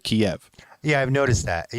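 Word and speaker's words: Kyiv: catch on to but everybody's calling it keeve now instead of kiev yeah i've noticed that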